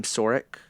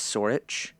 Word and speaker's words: Sorich: So for Michael Sorich, I was calling him Sorik. The pronunciation is Sorich.